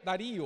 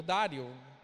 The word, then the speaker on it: Dario: No segundo ano do rei Dario, ou Dário, depende da sua pronúncia, depende da sua versão, no primeiro dia do